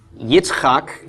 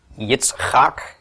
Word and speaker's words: Yitzchak: Yitzchak, just as a short aside here, is the name of Abraham's son Isaac. Yitzchak, it's a real interesting word to pronounce.